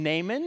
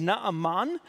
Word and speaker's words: Naaman: the name of you might call him Naaman in Hebrew his name is not Amman and so I'll probably say it both ways today and I'm sorry for probably mixing and matching how you pronounce his name Naaman or not Amman and he he's an